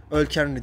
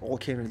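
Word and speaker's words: Ol Kainry: Öl Kenry diye okunuyor. İngilizce okuduğum için Ol Kenry diye okudum.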